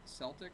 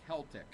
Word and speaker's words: Celtic: uh is Celtic pronounced Celtic or Celtic when referring to the Celtic people their languages and culture modern Scholars tend to pronounce the word with a k sound recalling the original form